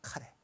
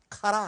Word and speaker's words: 카레: 라이스의 일본 이름이 카레입니다 카레 그래서 우리도 카레라고 부르죠 발음이 같습니다 카라 아닙니다 카레입니다 일본 사람들이 참이 서양문화를